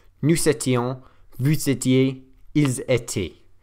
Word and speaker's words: étaient: So then we've got j'étais, tu étais, il était, nous étions, vous étiez, ils étaient. Which again, you don't pronounce the ENT on the end.